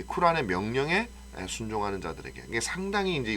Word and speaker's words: 쿠란: 놓고 나니 라고도 하고 꾸란 이라고 하는데 5 원래 발음은 쿠란 에 더 가깝다 그래요 그래서 경전 그들이 뭐